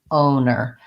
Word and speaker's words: owner: o and then at the end the second syllable is the same we have the n and the owner so i would write this one as an